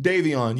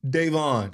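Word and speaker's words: Daivon: Davon, because it's spelled D-A-I-V-O-N.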